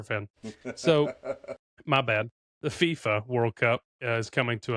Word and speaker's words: FIFA: Did Did I say it wrong? The FIFA FIFA FIFA FIFA. I said that wrong.